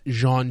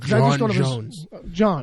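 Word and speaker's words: J'onn J'onzz: John Jones. John Jones. Yeah. It's like it's a little softer than John. That's what I was going to say. Because you're definitely doing a je with your J.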